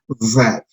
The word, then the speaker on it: that: Entonces el sonido de esta vocal es A. So, no es ni E, tampoco es A. No es ni E, ni tampoco es A. Es un sonido intermedio entre la E y la A. El sonido es A. Y finalmente la T, que es fácil de pronunciar. Tenemos entonces, si juntamos los tres sonidos, tenemos that.